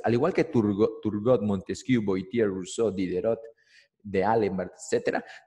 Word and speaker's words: Voltaire: Se pronuncia Voltaire. El francés, Voltaire.